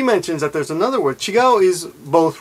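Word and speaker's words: 違う: And it's pronounced this way, chigao.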